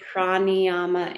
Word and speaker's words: Prāṇāyāma: the pranayama in there. How do you spell Pranayama. That's how pranayama? pranayama. That's pranayama. How do you spell it?